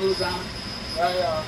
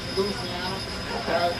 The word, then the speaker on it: Louisiana: I am from what you call the hot sauce capital of the world, Louisiana. Some of you might pronounce it Louisiana, but that's wrong.